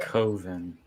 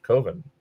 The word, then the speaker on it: Coven: pick up the 4K Coven. Not Coven. That rhymes with oven.